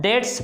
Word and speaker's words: debts: Unpaid, बिना, unpaid डेट्स, बिना चुकाए ऋण को, DEBTS, इसको डेट्स पढ़ेंगे, बी साइलेंट रहेगा।